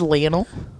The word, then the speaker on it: Lionel: Um is it pronounced Lionel? Yeah. Interesting. because he's from Argentina.